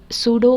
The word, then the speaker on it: pseudo: start है पीएसयूडो सीओडी लेकिन इसके अंदर जो पी लिखा है उसका जो प्रणाम सेशन है वह साइलेंट है तो इसके लिए इसको जब आप अपना यूज करते हो तो इसका प्रणाम सेशन कुछ सूडो कोड ऐसे होने वाला है जो यहां पर